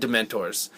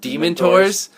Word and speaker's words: Dementors: pronounced it wrong I I pronounced it demon TOS which if you say if you listen to how I say it it still kind of sounds the same yeah well there's yeah